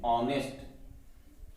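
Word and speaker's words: honest: लेकिन जब हम इसको उच्चारण करते हैं इसका, तो इसको बोलते हैं ऑनेस्ट। ऑनेस्ट, ऑनेस्ट नहीं, ऑनेस्ट।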